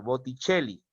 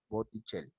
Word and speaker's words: Botticelli: como por ejemplo el señor botticelli así se pronuncia en en buen en buen italiano botticelli enlace pasa a hacer un h botticelli y la doble l también una sólo una